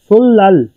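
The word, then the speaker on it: 설날: उसके बाद सुल नल सुल नल, इनका त्यौहार होता है सुल लल, जब भी ये प्रोनाउंस होगा ये होगा सुल लल सुल लल।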